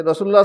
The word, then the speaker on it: রাসূলুল্লাহ: কিন্তু যখন আরবি উচ্চারণটা করবেন, আরবি যখন ইবারত পড়বেন, তখন রসুলুল্লাহ বললে হবে না, তখন বলতে হবে রাসূলুল্লাহ।